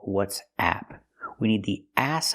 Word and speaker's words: WhatsApp: it's an app so it's pronounced what's app we use the short ass sound like black cat ah a not what's up but what'sapp what'sapp is